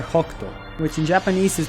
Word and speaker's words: Hokuto: Hoykuto(?), which I'm honestly not sure how it's officially spelled in English, is rather Hokuto (北斗), which in Japanese